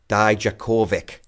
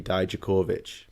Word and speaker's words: Dijakovic: Like, in Croatian, I think it should be Dijakovic.